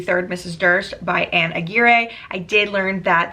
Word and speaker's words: Aguirre: Durst by Anne Aguirre. I did learn that that last name is pronounced Aguirre, not Aguirre.